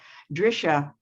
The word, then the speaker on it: Drisha: at eight o'clock to nine o'clock uh the drishar programs are free although they ask you to